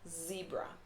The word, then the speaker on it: zebra: so we say zebra not zebra it's a zebra z z z zilch good even a word